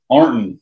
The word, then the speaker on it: Ironton: Arnton is as it's pronounced.